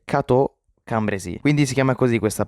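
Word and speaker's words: Cateau-Cambrésis: Ehm, sono il pitore del futuro e sto per correggere la pronuncia che ho detto nel passato perché non si dice kate cu cambrais, ma si dice katambresi, quindi si chiama così questa pace.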